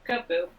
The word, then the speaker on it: Kubfu: part of the DLC, and that is Kubfu. I think is how you pronounce his name. Yes. Yes. Yeah, Kubfu.